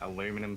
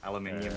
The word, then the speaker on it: Aluminium: Aluminum City. Aluminium City in the correct way.